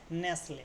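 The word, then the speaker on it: nestle: কর্মব্যস্ততা অতিশয় কর্মব্যস্ততা বাসল মানে কি বাসা বাধা নেসলে দেখ এর উচ্চারণটা কিন্তু থাক হচ্ছে না কি হচ্ছে নেসলেসলে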